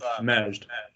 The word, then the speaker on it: Majd: And how do you say your first name? Maj? Yeah, it's Majd. Maj. Okay.